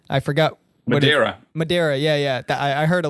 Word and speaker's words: Madeira: I said they would they would slap me for saying Madeira instead of Madera yeah but um no